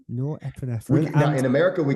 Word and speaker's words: Norepinephrine: Norepinephrine. Norepinephrine.